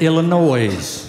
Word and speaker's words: Illinois: I also learned that you don't pronounce it Illinois. I said, well, if you're dumb enough to put an S in it, I'm dumb enough to pronounce it.